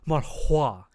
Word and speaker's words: manhwa: No, you gotta say it right. It's manhwa.